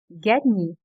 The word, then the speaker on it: gagner: The letter GN is pronounced like ni in onion. Mignon. Mignon. Gagner. gagner.